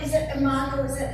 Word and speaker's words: imago: Is it imago? Is that how it's pronounced, Brooke?